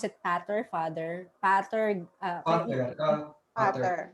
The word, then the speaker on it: pater: Pater. Pater. Because we use the Latin word pater.